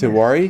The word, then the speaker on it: Tewari: Is it Yes, Tewari? you are right. Bang on. First time, Yeah. All right, first, and then say your last name. It's Tiwari. Tewari.